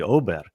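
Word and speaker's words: Åberg: a r g so everyone's here is saying abber abber but it's actually oberg so it's like almost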